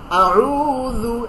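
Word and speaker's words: أعوذ: ঠিক আছে, আউযু যাল, জিহ্বার আগা তার বরাবর উপরের দুই দাঁতের আগার সঙ্গে লাগাইয়া, যাল। হ্যাঁ, আউযু বিল্লাহি মিনাশ শাইতানির রাজিম।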